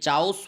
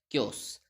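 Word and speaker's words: chaos: have been anti पेटेड यह चाउस word नहीं होता कस वर्ड होता है जनरली स्टूडेंट्स को इसको प्रोनाउंस करने में प्रॉब्लम होती है जनरली स्टूडेंट्स इसको चाउस पढ़ते हैं इट इज नॉट चाउस this is क्योस कह र वेदर दिस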